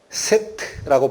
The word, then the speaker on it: 셋: 죽인 아벨의 밑에 자손으로 셋 세트라고 발음된 그 아들을 다시 주십니다 여기가 믿음